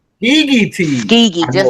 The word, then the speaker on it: Skegeetees: Skegeetees. Skegeetees. Skeegee, I just know. like because we call it Skeegee. That's short for Tuskegee.